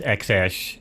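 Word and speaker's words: X Æ A-Xii: musk's kid's name yeah it's x-ash is what it's uh pronounced did he really name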